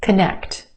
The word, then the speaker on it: connect: Connect, connect. 2 syllables. Emphasis where? On the second syllable, the sound. Connect. First syllable becomes the schwa. K, k. Very quick, unemphasized, schwa sound. K, k. Connect, connect. Let's connect later.